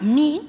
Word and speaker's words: mí: si yo digo a mí me gusta es esa palabra mi se pronuncia con acento sin embargo si yo digo mi casa mi no se pronuncia con acento es una palabra tónica